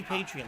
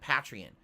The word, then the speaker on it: Patreon: everyone pronounces it differently it should be patreon like you're a patron of the arts patreon yet most people pronounce it patreon it's like the people